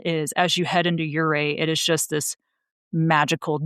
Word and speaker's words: Ouray: But, yes, it is pronounced Ouray, like hip hip hooray, is how a lot of people remember how to say it.